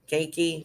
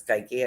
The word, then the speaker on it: keiki: was uh kaiki kaiki keiki something like k-e-i-k-i sort of like reiki but it's sky key i think i'm sure i'm